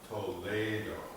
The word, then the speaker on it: Toledo: You see, Castilian Spanish, you pronounce different than English.